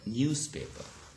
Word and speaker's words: newspaper: Okay, and look at the pronunciation and here the final consonant z, news. Okay, but when it is actually joined with another word, paper, so it becomes what? It becomes s.